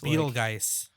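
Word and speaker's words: Petelgeuse: it's Betelgeuse. Because it's spelled with a P, which makes no sense, No, and it's they pronounce spelled it with with a a B.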